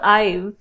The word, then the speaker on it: IVE: Eve or Ive? Eve is EVE. It's IVE.